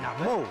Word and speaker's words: NaMÓ: NaMÓ. I mean, you have to say it with a traditional voice. With the exclamation point at the end.